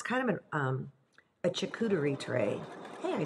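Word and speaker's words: charcuterie: it's kind of it's kind of um a chakutari tray hey i said it right never say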